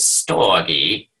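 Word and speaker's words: storge: Stoay and I'll never forget CS Lewis in his one of his few recorded books says pronounces it stogy.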